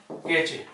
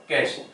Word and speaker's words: cache: पढ़ना इसको क्या है कैश, इसका उच्चारण क्या होगा कैश। ठीक है लिखा क्या है सी ए सी एच ई, पर इसका प्रोनाउंसिएशन कैसे करेंगे कैश, सी ए एस एच।